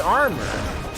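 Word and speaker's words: Armour Games: so unnecessary it's it's our mower but it's pronounced armor hey what you know and so I developed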